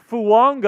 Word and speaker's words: Fuaga: pronunciation drama um so all of the pronunciation guides say fuaga say fuaga uh t fuaga yeah t and then at a senior B Ino he's like no it's it's Tois fua like how Tonga has the the invisible in